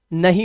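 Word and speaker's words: know: कनो नहीं इसे पढ़ते हैं नो। एन से पहले आया के हमेशा साइलेंट रहेगा। तो इसे पढ़ेंगे नो।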